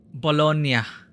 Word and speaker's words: Bologna: is a proper pronunciation of Bolognese pasta palona pronunciation bologna there we go we did say it correctly